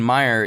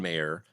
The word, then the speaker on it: Maier: intellectual ramblings right right I think it's pronounced mayor mayor I like the sound